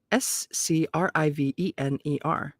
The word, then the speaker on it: scrivener: Flamel made his living as a scrivener scrivener s-c-r-i-v-e-n-e-r scrivener notary and Bookseller with a stall that